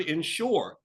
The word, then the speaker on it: insure: For the word insure. You didn't say for the word insure. insure. You Yes, hear? Yeah, insure. insure. The stress is on the shore.